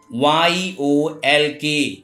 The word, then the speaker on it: yolk: Whenever L is found before M, F, K, D, in that condition, L is silent. As example, CALF, cough, not calf. CHALK, chalk. HALF, half. TALK, talk. YOLK, yolk.